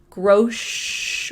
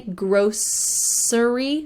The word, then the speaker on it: grocery: I'm going grocery shopping, and that's how I pronounce it, grocery with a sh in the middle, grocery shopping. But some people say grocery with an S, grocery shopping, grocery shopping, just a regional difference.